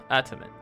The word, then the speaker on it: adamant: Adamant.